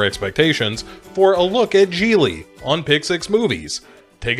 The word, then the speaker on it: Gigli: kidnapping action movie called geely it rhymes with really like really really bad but don't take my